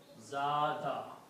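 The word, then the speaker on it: زاد: Also, this Ya with the Fatha, Ya being a weak letter, will change into an Alif, and this will be pronounced as Zada.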